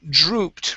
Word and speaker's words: drooped: right here so um if there was a double p yes we would say dropped okay but since there's only one p that and two o's this is drew drooped drooped drooped there you go good